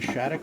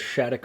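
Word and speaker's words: Shattuck: It's spelled S H A T T U C K. When I think of Shhat, I think S H A D O C K.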